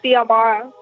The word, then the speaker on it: Xiomara: Do people call you Mara or is this Well, C, it's actually pronounced with a C. Like I'm sorry, say that one more time. It's pronounced with a C, like Xiomara.